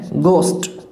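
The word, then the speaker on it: ghost: गलत है ना, क्या है ये गोस्ट है, गोस्ट, ठीक है, एक तो ये ध्यान में रखना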